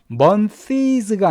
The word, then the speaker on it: months: months가 아니라 그냥 month. 그러니까 month에 s가 들어가면 그냥 s를 발음하지 않습니다.